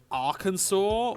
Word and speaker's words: Arkansas: evanescent nature Aras why why is it pronounced Arkansas when it's pronounced Kansas what the [ __